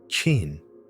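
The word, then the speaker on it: Qin: Chin is pronounced Chin.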